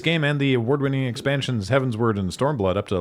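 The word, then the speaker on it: Heavensward: Uh, did I mispronounce Heaven's word? Did I say heaven sward? It's not heaven's sword. No, it's heaven's word like as in going towards heaven.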